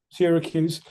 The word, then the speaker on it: Syracuse: Syracuse.